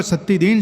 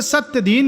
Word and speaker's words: सत्तीदीन: यद्यपि बंगालियों का सत्तीदीन शब्द के उच्चारण में अड़चन थी, वे सत्यदीन या सतीदीन कहते थे।